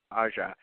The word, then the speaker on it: Aja: How the fuck is this pronounced? Alexander Aja? Alexander Aja, yeah. Aja.